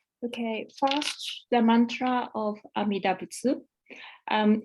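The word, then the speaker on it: Amida Butsu: first the Mantra of amidabutsu um it seems that when this Mantra is recited in Japan often the last syllable um TSU is dropped but today I follow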